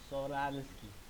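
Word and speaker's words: Czochralski: no pueden pronunciar esto solarski primero la cz se pronuncia como una s la ch se pronuncia como una J sería so ral sral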